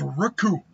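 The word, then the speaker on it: Recoome: Well, you better know that the name's Raccoon, and it rhymes with doom, and you're gonna be hurt.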